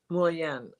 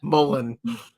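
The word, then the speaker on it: Mullein: So my favorite Mullien. I just love the way I know I say it wrong, but I'm Polish. Mullen is how I say it.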